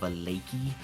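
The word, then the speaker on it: Vallaki: the lakey so uh the way uh that is spelled is v v-a-l-l-a-k-i balaki um and that is the town that you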